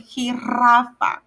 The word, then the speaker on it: jirafa: See how he only has one R? So I'm not exaggerating it. I just say rafa. If he had two R's, I would say jirafa.